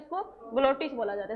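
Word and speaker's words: glottis: ग्लोटिस क्या बोल सकते हैं इसको, ग्लोटिस, सॉरी ग्लोटाइटिस नहीं, क्या बोला जाता है इसको, ग्लोटिस बोला जाता है।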